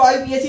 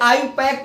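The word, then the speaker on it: IUPAC: कई टीचर इसको आईयूपीएससी पढ़ देते हैं, वो सीधे हिंदी में आईयूपीएससी, ये आयुपैक पढ़ा जाता है।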